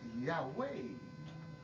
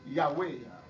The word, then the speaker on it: Yahweh: 4 lettres, c'était Y, H, W, H. Qui prononce Yahweh et qui correspond à Don.